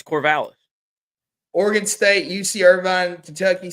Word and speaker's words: Corvallis: How do you pronounce where Oregon State's located at? Corvallis. You're wrong. No. Yeah, it's Corvallis. They got it sounded out right here. It's Corvallis.